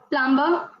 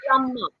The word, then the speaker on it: plumber: Plumber. Again, B is silent in this. Plumber.